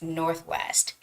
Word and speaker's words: Northwest: smoother so Northwest Northwest don't say just Norway it sounds like Norway but no it's Northwest Northwest can you hear how smooth that is Northwest Northwest okay